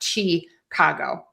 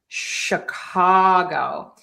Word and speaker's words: Chicago: For Chicago, we are going to have an unstressed syllable number one. And we're going to say an sh, not a ch. It is not Chicago. It is sh Chicago. We're going to stress the c syllable there. It's that open a sound.